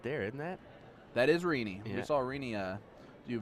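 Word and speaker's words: Rene: very well last night oh it's rini i think i've been saying remy this whole time my apologies it's r-e-n-e and it's rini is how to pronounce okay all righty well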